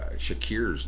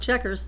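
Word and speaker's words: Chequers: Brothers Malcolm and Angus Young took to the stage at the popular Shakir's nightclub. No, Checkers. Checkers. It's just not spelled like CK, it's QE.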